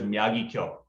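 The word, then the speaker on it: Miyagikyo: Yeah, I feel like the official Japanese way, I believe, is Miyagi-Kyo.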